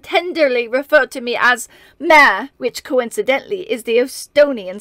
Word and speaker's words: Mare: referred to me as mare which coincidentally is the Estonian spelling of my name m-a-r-e although it is pronounced with the stress on the last e Marie while I addressed her